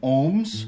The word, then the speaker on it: Holmes: aussi du son M, comme par exemple dans Holmes ou encore Stockholm. Règle numéro 12. Le graphème OO se prononce ou lorsque suivi du son K.